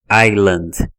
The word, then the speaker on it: island: palavra aqui da tela Island percebe que o s depois do I ele não tem som não é Island ou